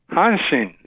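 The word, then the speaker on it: Hanshin: I'm doing fine thank you how do you pronounce that team from H Japan hansin where is that uh that's in the Osaka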